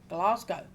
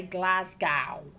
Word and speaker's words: Glasgow: So, Glasgow. Or as Americans say, Glasgow.